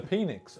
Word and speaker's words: Phynix: The phoenix. Oh, is Pat has infected me. No, it's spelled normally.